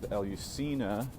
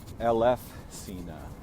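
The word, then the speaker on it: Eleusina: with on my channel, asks us to pronounce correctly as Elf Cena. The F sound is crucially important here.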